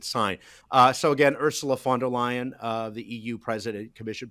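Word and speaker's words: von der Leyen: Uh f the V's are like Fs Hugh. So it's uh Ursula Fonder Lion and she was formerly uh in the German government and now she's here.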